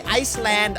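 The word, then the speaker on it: island: เวิ่น สังเกต นะ ครับ คำ ว่า เกาะ นี่ ครับ ๆ เลย นั้น ตัว S ไม่ ออก เสียง ขอ ไอ ส แลนด์ Iceland ก็ จะ เป็น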